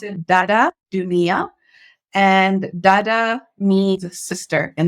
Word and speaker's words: Dada Dunia: tongue especially for like native speakers so you pronounce it dada Junia and Dada means sister in the sahili language